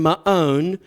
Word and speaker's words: Maon: Yes, again, that's the proper pronunciation. I know you guys think every time I pronounce it that way that I'm just setting myself up for a joke, but that's the way it's actually pronounced, Maon.